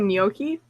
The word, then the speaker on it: gnocchi: is she talking about gnocchi yes yes the little potato things yes those are delicious don't put Vegemite on the G is silent yeah it's new yorky